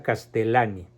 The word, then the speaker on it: Castellani: filósofo novelista de nombre Leonardo castellani se pronuncia castellane les ruego por favor